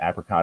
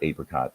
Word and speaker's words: apricot: it with it's either there's two pronunciations apricot or apricot depending on where you live so i picked appreciate